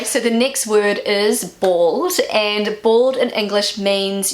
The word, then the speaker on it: bald: So this is the German pronunciation of bald.